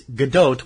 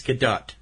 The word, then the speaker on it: Gadot: love galgadot and it's GDOT we've learned how it's pron it's pronounced with a long o it's Israeli pronunciation of that and the T at the end G it's not g it's GDOT GDOT G she's marvelous